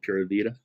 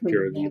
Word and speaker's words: Pura Vida: And there's one group that we work with here in Santa Rosa called Pura Vida, that we offer a scholarship at Pura Vida. How do you pronounce that?